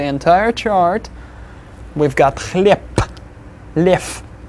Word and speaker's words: лев: Лев will be pronounced as лев. Then the next one, снег, will be снег.